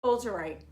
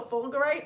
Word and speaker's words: fulgurite: So fulgurite or fulgurite, I'm pretty sure it's a soft G.